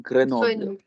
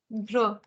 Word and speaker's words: Grenoble: So is it Grenoble? It's not Grenoble. Grenoble. Gr. का sound है. Grenoble. Okay. So it's not a slight a, No, like not at all.